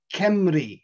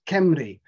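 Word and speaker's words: Cymru: the welsh word for wales and it is kemri that's how it's pronounced kemri because wales is an anglo-saxon name for the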